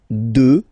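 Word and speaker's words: deux: 2, final X not pronounced, okay? 2.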